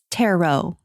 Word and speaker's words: tarot: Tarot. tarot? Oh, Yeah. I thought there was a T at the end. Yes. There is. There definitely is a T, except it's silent.